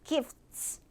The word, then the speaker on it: gifts: 자음으로 약간 치처스 아니고요 gifts 하시면 돼요 gifts gifts 들리시죠 t 뒤에 S 나왔을 때 항상 요렇게 발음하시면 돼요 자 내가 이런 것들을